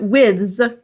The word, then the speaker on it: withes: It might be withes, like scythes. Withy. So that's I don't know if you could hear that, but withes is correct.